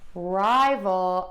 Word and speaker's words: rival: rival and libel so rival and libel we're going to stress syllable number one in both of these words so that's kind of